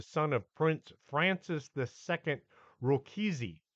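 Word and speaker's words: Rákóczi: of Prince Francis II rokisi that's it's spelled different from rogosy from Transylvania during one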